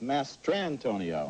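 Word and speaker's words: Mastrantonio: the oscar this year you will find out how to pronounce her name it's mary elizabeth master antonio okay that's not why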